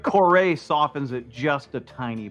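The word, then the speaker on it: Kore: Core. Just K O R E. Core is pretty cool. We just call it core or core. I don't know if you pronounce the e.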